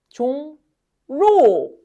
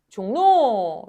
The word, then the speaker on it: 종로: 종로, 종로, 종로. 자, 그러면 얘는 누가 연달아 발음이 됩니까? 이응과 리을이 연달아 발음됩니다. 맞아요. 이응은 그대로고요. 누구가 바뀌었나요? 리을이 니은으로 바뀌었습니다.